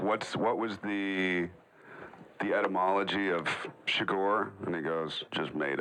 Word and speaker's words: Chigurh: I just asked him what was the right pronunciation of my character's name, which is quite weird, and he said Chigurh.